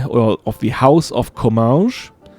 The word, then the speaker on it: Comminges: I think I pronounced it differently before, and that was wrong. Like, I pronounced it in the Portuguese kind of way, and I don't know why. It's actually called Comminges.